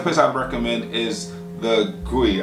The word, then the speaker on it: Qui: Another place I'd recommend is the Gui, I believe is how it's pronounced. It looks like Kui because it's spelled Q-U-I.